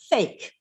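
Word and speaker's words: PHEIC: Fulmick said earlier, the acronym for that is pronounced fake.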